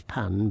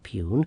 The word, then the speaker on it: pun: It's pun, by the way, not pugn.